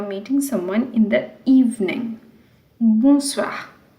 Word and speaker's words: bonsoir: Bonsoir. Wherever you see O and I together, the sound that comes is wa. So you will say bonsoir.